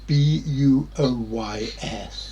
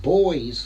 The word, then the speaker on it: buoys: shows on the internet some people mispronounce it buoys for some insane way they're boys for god's sake yeah you have a